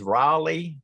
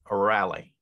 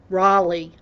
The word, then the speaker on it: Raleigh: North Carolina question yes the correct pronunciation is Raleigh not Rally Raleigh thank you you're exactly